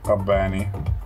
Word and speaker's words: Kabbani: Kabbani. Kabbani. Yeah, you pull on the B.